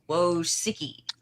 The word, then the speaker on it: Wojcicki: How do you pronounce it? Wojcicki.